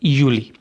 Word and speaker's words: Juli: यहाँ पे आप ये देखें कि जो जे है, JULI, जे की जो प्रोनाउंसिएशन है वो इंग्लिश वाली जे नहीं होगी, वो होगी ये, तो इसको कहेंगे एस्टन यूली।